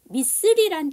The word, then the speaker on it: missile: 그쵸, 미슬이란 단어의 두 번째 아이가 묵음입니다. 우리는 미사일이라고 하지만 이거는 정확한 발음이 아니죠.